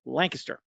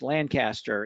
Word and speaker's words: Lancaster: city spelled the same way Joe except we pronounce it Lancaster uh my understanding is it's Lancaster in the UK as well as it is